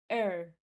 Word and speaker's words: her: Fast English, when we are speaking fast English, we say er, er. The letter H is silent.